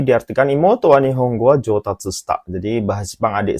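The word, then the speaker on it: 上達: 3 jodachi, atau 4 jotatsu? Hai, yang manakah jawabannya? Hai, oke. Jawabannya adalah untuk kanji nomor 1 ini, minasan, yaitu yang pilihan nomor 4, yaitu jotatsu bacanya ya.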